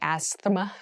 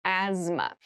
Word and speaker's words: asthma: has very interesting spelling there's a th in the middle but we don't say Asma we say asthma so kind of ignore